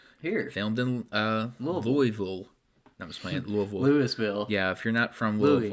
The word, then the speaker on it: Louisville: come if you're not a native of Louisville and you come in here and say like Louisville yeah or something well no people don't like that I I really don't care but um it's pronounced Louisville it's really besides the point